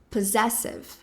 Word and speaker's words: possessive: Ou seja, esse primeiro grupinho de S, essa dupla na verdade, né, de S, vai ser com som de Z, p, pessive, possessive, possessive. E também a sílaba tônica, a mais forte vai ser a segunda.